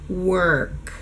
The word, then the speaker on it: work: Add the W, whir, and add the K, work, work. So the main point is that this sound needs to be closed in the back to produce that sound.